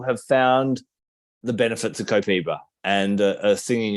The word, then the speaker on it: Copaiba: So one of the reasons why Copaiba is, in fact, so that's how they say it in the South America, Copaiba.